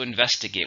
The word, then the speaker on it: investigate: verb how many syllables are and investigate for stress in a second investigate we need to investigate what went wrong then